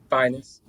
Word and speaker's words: Phines: So like the finest. Yes. Yes. Without the T at the end.